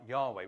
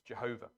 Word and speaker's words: Yahweh: heard this, the Hebrew word is something like Yahweh. We don't even know, we know how it's spelt, we don't know quite how it's pronounced. Comes up in some English versions as Jehovah, but it's Yahweh.